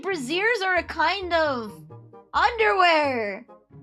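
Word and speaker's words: Brazzers: I called brazers brazers. Apparently, breazers are a kind of underwear.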